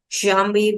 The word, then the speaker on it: jambe: Jambe will be pronounced as jam. Jam.